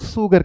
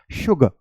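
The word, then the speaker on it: sugar: इसे बहुत लोग सुगर कहते हैं। देखो जब आप सुगर बोलोगे बच्चे तो आपका टंग जो है वो ऊपर जा रहा है। अगर आपको इसकी प्रोनाउंसिएशन सही करनी है तो आपको टंग को नीचे लाना पड़ेगा, यानी कि सबलिंगुअल ग्लैंड पे लाना पड़ेगा, तभी आप साउंड प्रोड्यूस कर पाओगे, which is शुगर, शुगर, okay.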